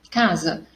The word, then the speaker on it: casa: Eu escrevo casa com C e com S, mas quando eu pronuncio, eu tenho o som do K e do Z.